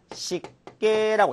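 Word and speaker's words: 湿気: 자, 그리고 이 기자를 케라고 읽는 케이스가 있는데 일단은 습기란 단어를 식계라고 읽었습니다.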